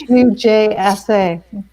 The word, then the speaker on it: Hujsa: I want to say it with a J, but Husa. Or tell us what it rhymes with. It's Hujsa.